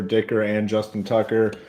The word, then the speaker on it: Dicker: tonight are good with Dicker because it rhymes with kicker right Dicker the kicker